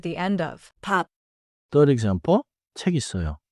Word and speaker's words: 책 있어요: 책 있어요. I'm not adding a new sound. I'm just moving the final sound for exactly. In Korean, this is not a spelling change. It is a pronounciation flow.